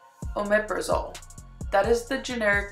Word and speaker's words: omeprazole: or I should say tell you how to pronounce this drug omeprazole omeprazole that is the generic name and the brand